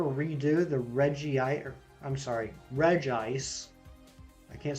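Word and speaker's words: Regice: people have been pointing out that it's reg ice which it's kind of silly if anything if anything it should be based off of how it's spelled it should be reggie say reggie say yeah reggie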